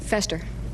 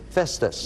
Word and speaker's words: Festus: for the game Pat Fester nope f it it has to be yeah Liz just said the right the right pronunciation Festus yeah fester and Festus there's often a I